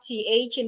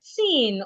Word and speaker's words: thin: to pronounce the words, they pronounce them with a T. So for example, you hear something like tin or mats or cloths instead of thin, math, cloth.